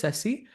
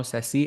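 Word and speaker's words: Sesse: And chat and chat people are asking what is cessi? It's a s e s e that's how you pronounce it.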